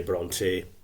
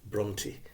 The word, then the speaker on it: Brontë: know I'm Bronte Emily Bronte sometimes people said to me it's not Bronte it's Bronte shorter you don't extend the E it's just an i Brony bronty sisters so now s mix